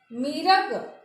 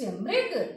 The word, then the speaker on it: मृग: उसी तरह से आप बोलते हैं बिरिछ, मीरग, तीरण, तो आपका गलत हो जाएगा। आपको वहां पे ऐसे उच्चारण करना है कि मानो कि री उसमें मिला हुआ हो। कृपा, वृक्ष, मृग, तृण।